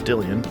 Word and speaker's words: Dillian: It's Dillian.